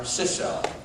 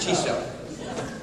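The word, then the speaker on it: Chisso: This company, and I'm not sure, maybe somebody from Japan can pronounce this for me, is it Chiso or Ciso? Chiso. What? Chiso. Neither one that I said. Chiso.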